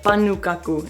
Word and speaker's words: pannukakku: We call it pannukakku, and that's probably not the proper Finnish translation, pronunciation, but that's how we say it, and it roughly translates as like an oven pancake.